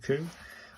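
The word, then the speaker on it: く: I'll finish off the K U, the sounding of C as a C coo.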